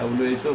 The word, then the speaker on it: WHO: যেমন হু বলা হয় থাকে, ওয়ার্ল্ড হেলথ অর্গানাইজেশন, মানুষ অনেকেই এটাকে উচ্চারণ করে হু, এটা হু নয় আসলে, WHO বলা উচিত, অনেকে হু বলে থাকে, সেটা ভুল আসলে, WHO world health organisation, it ইস an abbreviation.